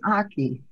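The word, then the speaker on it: ackee: now now you got me we had some aki and we had some callaloo and some banana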